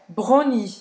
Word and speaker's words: brownie: Então você vai fazer realmente o R francês, o W vai fingir que ele não existe, certo? E o E no final não vai pronunciar.